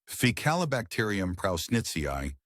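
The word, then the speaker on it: Faecalibacterium prausnitzii: Now let's move to our second neighbor ficalacterium prnitzi pronounced fical bacteria e prown netzi.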